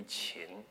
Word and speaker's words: Qin: It should probably be Qin, because that he gets